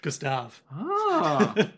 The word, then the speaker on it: Gustave: How do you pronounce Gustave in French? Gustave.